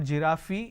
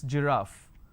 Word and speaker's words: giraffe: giraffe starting with G it's not girafi it's giraffe and we have a